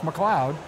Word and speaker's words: McCloud: know his family spelling of the name is pronounced McCloud so his his pen name is McCloud and